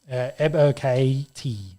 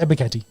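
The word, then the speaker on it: Ebiketie: Ebo KT. I think you just got to say it real fast. Ebo KT.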